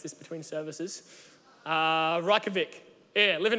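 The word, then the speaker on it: Reykjavík: 120,000 now Andrew King told me how to pronounce this between services raka Vik yeah live in Reykjavik and all the statistics of the past 50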